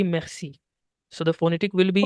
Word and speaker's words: merci: It won't be mercy as we have in English. Okay. It will be merci.